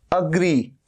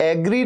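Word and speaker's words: agree: अग्री, इसमें भी अग्री, ये एग्री नहीं है, ए का साउंड नहीं है, अ का साउंड है, अग्री।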